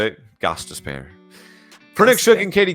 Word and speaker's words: Gostisbehere: pronounce it. Oh, you said it? Gostisbehere.